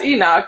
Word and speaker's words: Enoch: Right, If you missed it, that's Enoch. Yeah, I had him last year on the Social Mixer show. that's how you pronounce his name.